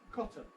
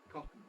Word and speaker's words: cotton: process in spoken English here's the word cotton again we show it with a raise because there is the possibility of saying coton although the recommended pronunciation is without that vow thus cotton cotton so going straight from